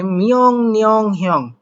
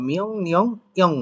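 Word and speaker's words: 명령형: বলছে মিয়ং নিয়ং হিয়ং, মিয়ং নিয়ং, এখন রিয়ং না বলে আসলে এখানে তো উচ্চারণ হওয়ার কথা রয়হিষ্যি অন্তত অনিশা রিয়ং, কিন্তু এই যে ইয়ং বাচ্চুমের পরে যখন রিউল আসে তো সেক্ষেত্রে মূলত এই রিউলটা নিউন হয়ে যায়, তো এই রিউলটার উচ্চারণ কি হবে? নিউন। তাহলে মিয়ং নিয়ং হিয়ং, মিয়ং নিয়ং হিয়ং বলতে পারেন, অথবা মিয়ং নিয়ং ইয়ং বলতে পারেন, হিউ থেকেও সাইলেন্ট রাখতে পারেন।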